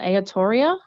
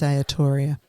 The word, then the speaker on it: Aotearoa: Aotearoa? Oh, yes, I think it is Aotearoa.